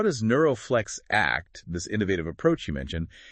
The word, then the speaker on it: NeuroFlex ACT: That's exactly where Neuroflex Act, pronounced like the word ACT, which stands for neuroflexibility focused acceptance and commitment therapy, comes into play.